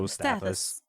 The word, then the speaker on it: Stathis: The Stathis guy, Stathos? How do you say it? Stathis.